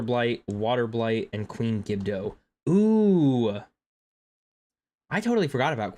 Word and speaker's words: Gibdo: Mctar rock, Thunder Blight, Water Blight, and Queen Gibdo. Ooh, I totally forgot about Queen Gibdo.